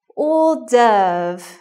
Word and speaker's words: hors d'oeuvre: And that wouldn't sound like you knew what you were doing in the restaurant. It should be hors d'oeuvre or hors d'oeuvres.